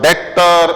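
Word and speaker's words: debtor: ಬಳಸ್ತೇವೆ ಡೆಟ್ಟರ್ ಅಂದರೆ ಯಾರು ಇಲ್ಲಿ ಬಿ ಸೈಲೆಂಟ್ ಆಗಿರತ್ತದೆ ಈ ಶಬ್ದವನ್ನ ನಾವು ಉಚ್ಚಾರ ಮಾಡುವುದಿಲ್ಲ ಇದನ್ನ ನಾವು ಡೆಟರ್ ಅಂತಹೇಳಿ ಕರೀತೇವೆ ಯಾರು ಡೆಟರ್ ಅಂತ ಹೇಳಿದರೆ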